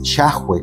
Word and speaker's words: Yahweh: del eterno pero si la pronunciación más cercana es yahwe como nosotros lo hemos aceptado O yé si quieres